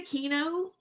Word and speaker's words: Aquino: David doesn't even pronounce Aquino correctly. Yeah, you know what? It's really Aquino.